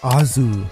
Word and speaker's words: Oars: This is simply because his name in Japanese is pronounced the exact same as Oz in the Wizard of Oz. In Japanese, it is pronounced Azu.